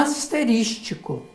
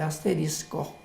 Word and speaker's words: asterisco: A impressão não que dá... asterístico. A Por isso que eu falei que parece que a população fez uma opção por aquilo que parece mais agradável de ser pronunciado. Mas a palavra certa é asterisco.